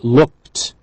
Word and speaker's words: looked: Number 3, we see her with the boxes in the apartment, and we say she looked. Ed we write, but we hear t because of the k at the end.